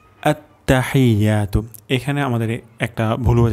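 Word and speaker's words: التحيات: প্রথম শব্দটি হল আত্তাহিয়াতু। আততাহিয়াতু।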